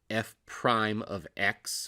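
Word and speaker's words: f′(x): so that function is the derivative function we pronounce that f prime of x which i have written below as well there's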